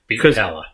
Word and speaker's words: Beatpella: Beatpella. Yeah, Beatpella because it's a combination of the words beatbox and a cappella, according to them.